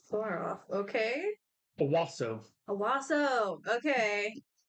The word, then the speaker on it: Owasso: not far off okay Owasso Owasso okay swap the a for an O and that's how you pronounce it o-w-a-s-s-o the blossom it